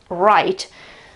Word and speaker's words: right: Right, okay, the W at the beginning disappears, of course. We pronounce it right, as in right, meaning correct. We pronounce it in the same way.